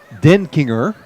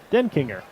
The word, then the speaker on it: Denkinger: I'd write the word den, and then I'd write the word Kinger. Denkinger. Denkinger.